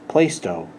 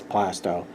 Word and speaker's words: Plaistow: Most people from outside think it's pronounced Plaistow. Nope, it's Plastow.